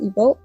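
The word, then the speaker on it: Imbolc: I might butcher the pronunciation of this, but the last time I looked this up, I think it said it's pronounced Ebo. Although I might be wrong. It also might depend on the source that you find the pronunciation of this from.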